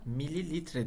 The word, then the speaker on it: mililitre: kaç mil limonata içilmiştir şu ml ifadesi birimi çocuklar mililitre diye okunuyor dikkat ederseniz bunu en